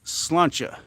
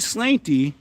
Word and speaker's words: sláinte: Sláinte is like cheers in Irish, pronounced slawn-cha. Slawn-cha, really? I've heard sláinte.